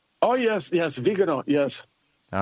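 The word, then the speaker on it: Viganò: Well, let's let's hope not if I get the I can never pronounce this right. It's Vegano, right? Oh, yes. Yes. Vegano.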